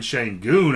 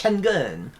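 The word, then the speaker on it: Şengün: So it's because that's how they say it in Turkish. Sengun.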